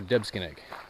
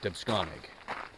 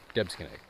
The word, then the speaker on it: Debsconeag: It's also Debsconeag. It's not Debsconeag. Debsconeag.